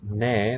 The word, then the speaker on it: 내: This ne, the first syllable there, is a fusion of 나의, right?